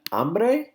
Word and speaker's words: hambre: Hambre, hombre. Hambre, hombre, okay? This is also not hombre, okay? Be careful. The H is silent in Spanish, so we say hambre, hombre.